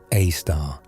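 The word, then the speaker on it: Sagittarius A*: Our galaxy is built around a super massive black hole called Sagittarius A, pronounced A star, weighing in at about 4 million solar masses.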